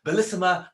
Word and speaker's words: Bellissima: And if you ask her, it's actually pronounced Bellissima Prosecco.